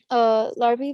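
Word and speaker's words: Larbi: One of the influential leaders of the You can say Larby. FLN, You can say band. I couldn't remember how they pronounced his name, and I didn't want to butcher him, but thank you, Larby.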